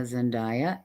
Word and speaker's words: Zendaya: Zendaya? Is that how you say her name? Yeah. Yeah, Zendaya.